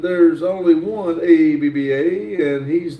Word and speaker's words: ABBA: is pronounced abba not spelled out.